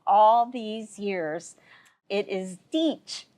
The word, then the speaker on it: Dietsch: But I learned something today, and I'm so embarrassed to hear that I have been pronouncing the name wrong all these years. It is Dietsch, not Dietz's.